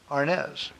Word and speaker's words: Arnez: do you pronounce your last name Arness RNs correct Arnez okay well I'm kind of shocked to everybody I've never quite said that I always just called you so now I know the correct way to say Arnez okay you're going to